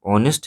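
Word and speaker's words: honest: क्योंकि ऑनेस्ट है जो वर्ड, इसका प्रोनाउंसिएशन हिंदी स्वर से स्टार्ट हो रहा है।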